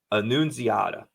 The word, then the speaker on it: Annunziata: Thomas, man, you would think I'd be able to pronounce this right because it looks Italian. Annunziata. You got it.